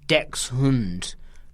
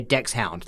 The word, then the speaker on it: Dachshund: I don't think you have to say hund, but you should say Dax.